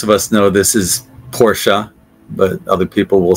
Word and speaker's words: Porsche: can spell them all I'm great at spelling pronunciation nah this is an easy one most of us know this is Porsche but other people will say Porsche which is incorrect Porsche I could see how